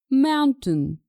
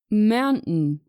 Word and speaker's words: mountain: In British English, it's pronounced mountain, mountain. And in American English, it's pronounced mountain, mountain.